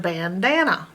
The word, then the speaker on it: bandana: syllables Bam Bam up in the first syllable the a is closed in by the N so it's making its normal short a sound ah ban and the same thing in the center syllable it's closed in by the end so it's making it short sound ah but this a is left all open so there's nothing closing it on on the right side so it's making